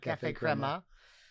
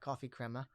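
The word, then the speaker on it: Café Crema: wrong creme Clem Crema Crema Cafe Crema not coffee Crema so uh but it's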